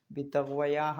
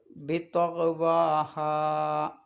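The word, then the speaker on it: بطغواها: പിന്നെ ആ വാവിൻ്റെ ശേഷം യാ ഇട്ടതുപോലെ കാണാം, പക്ഷേ യാവിനെ അകാരമാക്കിയാണ് ഉച്ചരിക്കേണ്ടത്. ബിത്വഗ്വയാഹ എന്ന് ഓതാൻ പാടില്ല എന്നർത്ഥം. അപ്പോൾ ഓതേണ്ടത് ബിത്വഗ്വാഹ.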